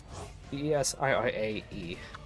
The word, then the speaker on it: Desirae: Red Desiree came. We desperately check any card for bait. Yeah, Desiree, Desira. But yeah, that's basically how you would pronounce it. Desirae.